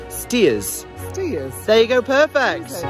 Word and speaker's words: Staithes: lucky because this isn't actually pronounced stage it's pronounced steers steers there you go perfect James Cook moved to Whitby in 1747.